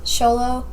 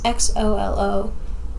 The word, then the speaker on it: Xolo: Sholo. His name in the movie is Miguel, or the show. I don't know how to say his name. It's Xolo.